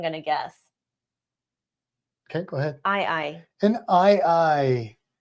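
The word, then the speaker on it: aye-aye: guess okay go ahead I I an i i and that's spelled a Yee a Yee yes like I I which is a type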